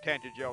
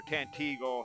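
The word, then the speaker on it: Tantegel: All of the remakes, the Castle of Tantagel, or Tantigel, however you want to pronounce it. I've heard it pronounced both ways.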